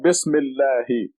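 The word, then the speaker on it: بسم الله: When you read the 2 words, this is Bismi and this is Allahi, together will become Bismillahi. Bismillahi. The alif and the lam become silent.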